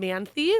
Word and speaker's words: Manthey: But if you Google it, just SoundCloud Ryan Manthey, or Manthey is how you pronounce it.